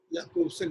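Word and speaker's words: Jakobson: इसका प्रवर्तन किया एरिक जॉनसन याकोबसन, जिसका उच्चारण जो है याकोबसन किया जाता है। असल में फ्रेंच जर्मन भाषा में जो JO होता है वो या पढ़ा जाता है, जा को या पढ़ा जाता है।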